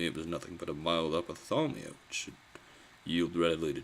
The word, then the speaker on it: ophthalmia: Ophthalmia? Ophthalmia, inflammation of the eye, especially ophthalmia. Okay, I am saying it right. It's ophthalmia. At least that's what the IPA says.